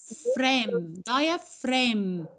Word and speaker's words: diaphragm: لا مش diagram بقى، diaphragm. الجي silent مش بننطقها.